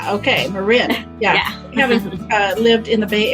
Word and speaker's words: Marin: with me oh and my last name is pronounced Marin that most people say Marin okay Marin yeah lived in the Bay Area yeah only